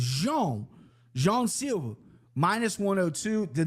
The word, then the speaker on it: Jean: It's not John. It's not Jean. It's Jean.